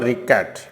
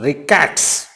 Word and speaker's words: rickets: रिकेट एक बीमारी होती है, and it is never ricket. It is always pronounced rickets.